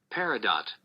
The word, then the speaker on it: Peridot: I pronounce it wrong. Peridot.